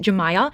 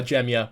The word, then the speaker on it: Jamaa: Her name is pronounced Jamaa. I also want to apologize cuz I've also been calling her Jia but it's Jamaa.